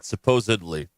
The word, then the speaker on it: supposedly: people mispronounce supposedly ah there's no B in there supposedly correct no there you